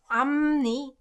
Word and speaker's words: 앞니: So this one as well, it's pronounced 앞니.